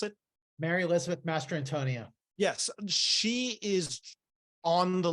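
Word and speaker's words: Mastrantonio: I cannot pronounce last name how do you pronounce it Mary Elizabeth Master Antonia yes she is on the level of Newman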